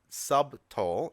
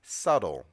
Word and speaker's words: subtle: silent in this word so it's not sub tall it's subtle subtle smile and subtlety